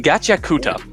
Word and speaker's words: Gachiakuta: Gachiakuta.